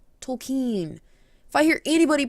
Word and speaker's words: Tolkien: believe for tolkien's children by the way it's tolkien tolkien if i hear anybody pronounce it tolkien i will punch you in